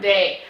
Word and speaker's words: they: We learned that it is a one-syllable word, they. And we learned that when we stretched it out, we heard the TH sound. And we also learned that it breaks some of our sound rules and says A at the end.